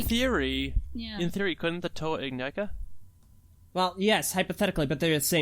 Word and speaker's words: Ignika: Ignica. Like, However the heck like- it's pronounced.